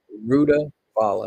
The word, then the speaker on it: Rutavala: Rutavala is spelled Rutavala. Rutavala is what it's called.